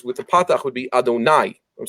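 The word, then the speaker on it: אֲדֹנָי: the patach would be Adonai. I'm saying with a patach, so I don't say the holy name. And God's name is basically that name. We pronounce it as though it's the plural, my masters, and we change the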